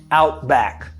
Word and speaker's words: Outback: ow back little outback out back sometimes the at the end of the word back is not even pronounced you want to say